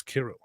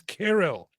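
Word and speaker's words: Cyril: Abraham Harb, the correct pronunciation is Kirro. Yeah, I hate to do this and I hate to do this to you, but the correct pronunciation of it is not serial, it's carol.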